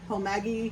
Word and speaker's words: homage: Homage. It's pronounced homage.